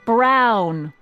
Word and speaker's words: Brown: That's EMTT Brown. Rhymes with clown, which I'm beginning to think you are.